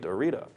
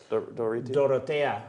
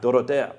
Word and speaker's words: Dorotea: The other figure probably represents the shepherd, also with his pants down, ready to rape Dorita. Is that how you say it? Dorotea. Dorotea.